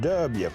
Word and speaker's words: Dubya: Rockin' what? W. W. Yeah, D-U-B-Y, W. That's how we say it. That's how you say it in Texas.